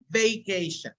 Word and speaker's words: vacation: So when you pronounce it, make sure that you say vacation. Like bacon. Like bacon, right, right.